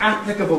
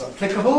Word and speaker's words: applicable: are some stress changes stress moving from the first syllable to the second syllable so that applicable becomes applicable that's the Top Line controversy becomes controversy that's the second line and formidable becomes formidable as the third line and you can see that the younger you are the more likely you are to have stress on the second syllable in those words